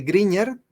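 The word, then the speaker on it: Grignard: se llamaba víctor griñán gene se pronuncia como gene por si acaso no lo lee en gris claro se lee griñán encontró estos compuestos y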